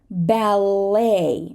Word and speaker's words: ballet: to say listen listen ballet right when we have a French word that ends in e t we're not going to say the e t we're just going to say ballet bouquet Gourmet right and here